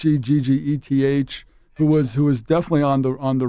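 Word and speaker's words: Hegseth: It's Heggeth, who was definitely on the ropes.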